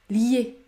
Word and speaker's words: lié: donc accueil accueil accueil il ne faut pas dire lier lorsque la voyelle i se situe devant une autre voyelle phonétique il faut prononcer la semi-voyenne comme dans le mot piano ou encore se fier se fier la bonne prononciation et donc liée ce mot ne se